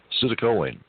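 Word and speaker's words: citicoline: Um, it's spelled C I T I C O L I N E. Sitoline.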